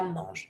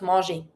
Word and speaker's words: mange: Le chat mange, and not manger.